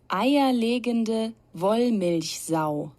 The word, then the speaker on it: Eierlegende Wollmilchsau: The word is pronounced Eierlegende Wollmilchsau.